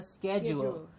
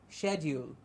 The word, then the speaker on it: schedule: call it a schedule but that's the American pronunciation for us we will stick to and what we always have stuck to the British pronunciation which is a standard English pronunciation for us and we will say schedule the only thing that